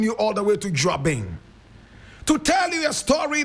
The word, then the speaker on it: Juaben: In fact, Juaben, spelled J-U-A-B-E-N, but the correct pronunciation is Juaben, like Juaben, D-W-A-B-E-N-G, Juaben.